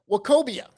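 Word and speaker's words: Nwokobia: Next, we've got Isaiah Wakobia. That's that N is silent. We had uh we had Scott Garner on when we talked about him. Um Isaiah Wakobia is SMU.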